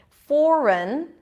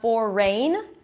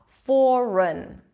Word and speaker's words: foreign: say about this pattern except that the G is silent right foreign we don't hear anything it's not for rain even the EEI that we have there it's not a it's just a schwa for run run so it's an R